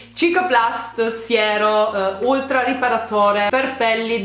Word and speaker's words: Cicaplast: hanno spedito il cicaplast mi viene da pronunciarlo siaplast Scusatemi il cicaplast giusto si pronuncia così giusto cicaplast siero ultra riparatore per